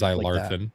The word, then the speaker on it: Zylarthen: Well, OD&D or anything that's it is related Seven to Voyages it or whatever, of like Zylarthen Shadow. Yeah. ZYLARTHEN. Not spelled with an X like I think it should be, but that's fine.